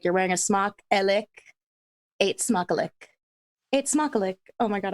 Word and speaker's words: eet smakelijk: But it's eet smakelijk. Eet smakelijk. Like ate as in I ate something. That's how you can pronounce it. Eet smakelijk. Smock, like you're wearing a smock. Elik. Eet smakelijk.